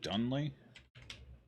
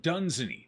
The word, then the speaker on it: Dunsany: Dunley? Dunley, Sheol... What was his name? Was it Dunley? Dunley? Oh, Dunsany. Dunsany, not Dunley.